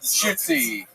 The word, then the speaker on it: Shootsy: How do you say it? Judaism is a religion. Shootsy. Come on, make some noise for Jack Shootsy, everybody.